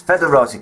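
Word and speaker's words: foederati: in the interim period the O is silent that's federa cavalry federa infantry special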